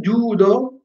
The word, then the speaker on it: judo: Quindi, in judo, jujutsu, la U è lunga.